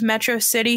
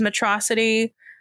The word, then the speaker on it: Metro City: not allo and then instead of metro city he says matrocity um instead of melancholy